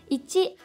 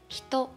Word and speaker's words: 一: Let's summarize here.This kanji means one, and its pronunciation is ichi and hito.